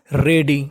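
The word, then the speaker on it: ready: boy said I एम आर ई ए डी को पढ़ेंगे डी वाई को रेडी क्या पढ़ना है रेडी फ्रॉम टुडे यानी मैं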